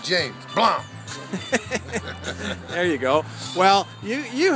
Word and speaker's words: Blomp: Spell it. B-L-O-M-P. Just like it sounds. Like James. Plum.